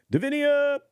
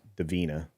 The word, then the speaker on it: Davina: Davinia! I know I say this wrong. It's Davina. But I say Davinia.